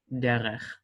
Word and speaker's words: derech: However, every time that this is in the final form, unless it is given itself a dot, it will be pronounced as in the soft pronunciation. So that would be derech, derech.